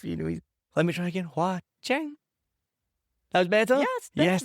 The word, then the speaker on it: Hoa Chanh: I'm really excited to talk to my guest today, who's helped me pronounce her name, and she's going to explain to you what it means. It's Hoa Chan. Hoa Chanh.